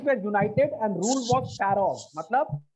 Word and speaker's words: pharaohs: देखो ये पीएच है ना, ये पीएच, इस पीएच को अपन एफ प्रोनाउंस करेंगे। क्या प्रोनाउंस करेंगे? एफ। ठीक है, इसको तुम लोग एफ बोलना है, एफ। इसको पीएच मत बोलना।